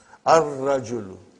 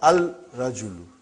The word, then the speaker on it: ar-rajulu: Ar-rajulu. The man. Not al-rajulu. It will be wrong to say al-rajulu. It will be ar-rajulu. We won't pronounce lam. Why? Because it is a sun letter.